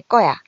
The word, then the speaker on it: 거야: 정리해 보면은요, 갈게, 갈 거야. 관형사형 어미 을 뒤에서 된소리로 발음이 나고 있습니다.